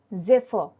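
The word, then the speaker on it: zephyr: উপরে অবস্থিত number 79 জেফর spelling Z ই পি এইচ ওয়াই আর pronunciation হলো জেফর মানে মৃদু মন্দ বায়ু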